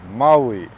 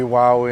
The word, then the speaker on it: Maui: how it is okay the name of this island is Maui okay this one you'll hear a lot of Maui Maui woi and stuff like don't say that yeah you're going to catch cracks from the locals yeah you don't know